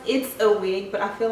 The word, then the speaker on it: It's a Wig: It's actually pronounced It's a Wig, but I feel like